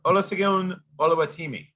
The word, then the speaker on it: Olusegun Oluwatimi: Olusegun Oluwatimi. Yes. Olutini. Yes. Olusegun Oluwatimi.